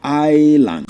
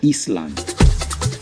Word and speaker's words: Island: But you see I S L E N D is called island not ice or Eastland.